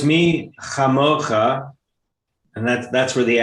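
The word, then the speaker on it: מי כמוכה: That's where So it's me chamocha, and that's where the accent is on the letter there.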